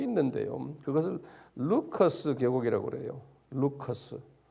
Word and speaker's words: Lycus: 루커스. 영어로는 LYCUS, 리커스인데 우리 발음은 루커스 계곡인데 이 계곡 안에 도시가 세 도시가 있어요.